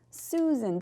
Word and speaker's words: Susan: I was thinking about it, even just the name Susan. Susan, that long U, Susan.